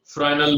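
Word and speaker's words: Fresnel: फ्रेनेल बोलते हैं कुछ लोग, फ्रेस्नेल भी बोलते हैं, तो इसके प्रोनाउंसिएशन अलग अलग, बट ही वाज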